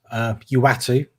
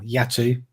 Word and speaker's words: Uatu: So essentially, a what if, the first episode begins with Uatu or Yatu, depending on how you want to pronounce it, the Watcher, talking us